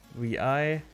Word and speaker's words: vi: editor to visual mode the name is pronounced vi the english letters v and i that's cool it's called